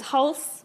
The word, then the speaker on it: Halse: It's Halse, but Halse, you know, also okay.